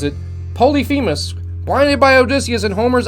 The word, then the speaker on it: Polyphemus: the leader of what group of mythical Giants Polyphemus that's how they're saying I pronounce it Polyphemus Lyonya by Odysseus in Homer's Odyssey was the